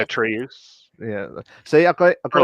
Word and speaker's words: Atreus: Sonny Sulcic, if that's how you pronounce it, who plays Atreus. Atreus. yeah, Atreus. Atreus.